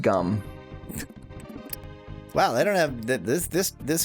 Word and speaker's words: Jum: It's spelled J-U-M, but it's pronounced gum.